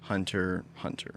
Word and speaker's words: Hunter x Hunter: i'm not a loser i know how to say it i was just making a joke hunter hunter so i'll be honest i'm